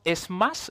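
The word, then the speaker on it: SMACSS: añadiendo como modificaciones luego tenemos Smash se pronuncia así eh lo he leído en la documentación es que lo que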